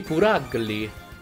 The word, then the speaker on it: Purugly: In realtà Purugly dovrebbe pronunciarsi Puragli, però mi viene molto strano dire Puragli, quindi non lo dirò.